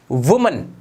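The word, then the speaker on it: women: और अब ये पढ़ा भी अलग तरीके से जाएगा, अब ये वुमन नहीं होगा, ये पढ़ा जाएगा विमेन, विमेन, विमेन, ठीक है दोस्तों।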